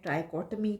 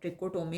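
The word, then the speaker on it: trichotomy: बहुत से लोग इसको प्रोनाउंस करते हैं ट्राइकोटमी प्रॉपर्टी, और कुछ लोग ट्रिकोटोमी प्रॉपर्टी भी कहते हैं।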